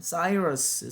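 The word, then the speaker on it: Cyrus: 그게 뭐냐면 고레스의 원통 키루스, 또는 영어 발음으로는 사이러스 실린더라고 하죠.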